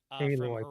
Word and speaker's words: Aloy: Kotaku we have the a powered and I mispronounced her name before a aloy aloy horizon Z Dawn demos our terrifying chatbot future